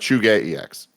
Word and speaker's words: ZhugeEX: It's pronounced Chuge EX.